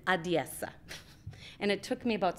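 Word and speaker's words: Odesa: say it just their own way and it's adiesa and it took me about six months to learn how to say that correctly a lot of people say odessa and then they know you're not from there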